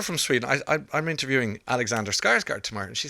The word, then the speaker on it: Skarsgård: No, because it's the little weird umlaut on the second A is an O, and it's a tricky sound.